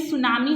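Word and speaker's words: tsunami: यहाँ पे student सुनामी हम इसे रीड करेंगे because T इज a silent here.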